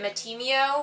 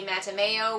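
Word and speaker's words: Mattimeo: I was reading and I always pronounced it Matty mio but I think it's supposed to be meta Mayo which sounds like mate and mayonnaise but whatever I'm Matt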